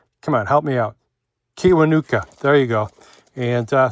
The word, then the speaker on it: Kiwanuka: Beck, this guy Michael, I can't pronounce his name. Uh, great. Come on, help me out. Kiwanuka.